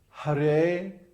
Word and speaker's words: Hare: Krishna it's kishna so har Krishna huh the har is long and then Krishna or